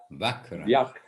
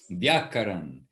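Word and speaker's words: व्याकरण: Vyakaran. So don't come to me for pronunciation of the words. Vyakaran. And even that VY, Bapi, in Bengali and in Sanskrit, it will come out a little different.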